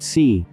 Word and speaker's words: si: associated with the heart c pronounced like sir with a slow exhale which is associated with the lungs kui pronounced like chewie